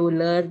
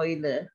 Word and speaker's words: Euler: learn Seo ini ini saya suka salah salah nyebut Laila bitwise uler gitu ya Tapi bacanya katanya oil sirkuitnya oil ini adalah